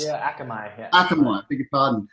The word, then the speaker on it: Akamai: Akamai, is that how it's pronounced? Yeah, Akamai.